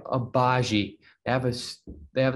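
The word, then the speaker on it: Agbaji: a showtime guy ochai obazi i'm pretty sure it's a abaji i just looked up a video of this i think i should know how to say it's ochai obagi they have a they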